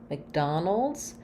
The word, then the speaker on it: McDonald: names with an Mac but again another reduced vow because it's not stressed so it just sounds like a short little um I vowel there Mick Mick Mick so almost no vowel again kind of I'm going right from the m to the C Sound MC McDonald and then um because